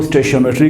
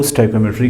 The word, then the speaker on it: stoichiometry: कुछ लोग इसको स्टोइकियोमेट्री कहते हैं, कुछ इसको स्टोइकियोमेट्री कहते हैं। दोनों आप प्रोनाउंस कर सकते हो।